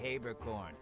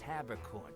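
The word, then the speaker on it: Haberkorn: Just don't say Habercorn. It's Habercorn, people.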